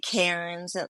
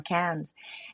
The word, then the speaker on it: Cairns: So it looks like Cairns, like because of the AI and so on, but a great way our tour guide told us was, say it like cans. So 1 can of beer, 2 cans of beer.